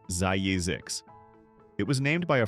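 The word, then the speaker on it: Zzyzx: California is home to a town named Zzix, pronounced Zyzix.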